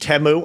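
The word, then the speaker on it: Temu: cheap cost uh goods from China is it pronounced teu I didn't know that I I always say teu t it's TAMU but honestly you know we still call it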